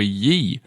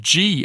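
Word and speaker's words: Gee: be married to Oliver ye and not me I know I said it's pronounced G as in Jesus Jesus the priest looked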